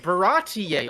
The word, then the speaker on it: Baratie: Baratie Arc. Yeah. Is that it? Is that how you say it? You got it. You Yes. did it. You pronounced it right.